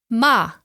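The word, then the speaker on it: 吗: swear or to curse Ma and finally you can pronounce it quite neutrally which usually happens at the end of a sentence ma which is a question particle so here we have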